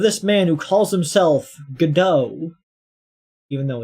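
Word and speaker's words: Godot: The real name of this man who calls himself Gdau, even though it's pronounced God dot.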